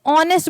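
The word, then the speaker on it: honest: कर रहे हैं तो ऑनेस्ट बोल रहे हैं। एच क्या है? साइलेंट है। एच क्या है? साइलेंट है। ऑनेस्ट ओ से हमारा शुरू हो रहा है।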